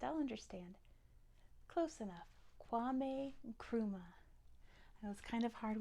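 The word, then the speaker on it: Nkrumah: k w m e Kuma is n KR u m a quame grops h quame Kuma so you barely pronounce that n it is there you have to almost not say it quame Kuma quame Kuma very important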